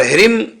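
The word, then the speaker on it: ह्रीं: और ह्रीम, यहां भी आगे को बिंदी के बाद कोई अक्षर नहीं है तो ये आधा मां कहलाएगी, ह्रीम।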